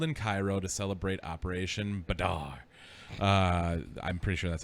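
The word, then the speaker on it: Badr: cairo to celebrate operation badar uh i'm pretty sure that's how you spell i say that b-a-d-r bader badar i would imagine badar uh during which the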